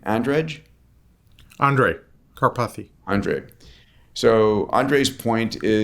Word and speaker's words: Andrej: So how does he pronounce his name? Andrej Karpathy.